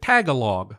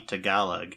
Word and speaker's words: Tagalog: at the end makes me automatically want to pronounce it Tagalog yep I have exactly the same experience that that is something I had to to consciously learned that it was supposed to be to galag and like practice at that I I said